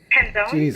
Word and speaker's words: Penzone: And how do you pronounce his name again? The sheriff. Penzone.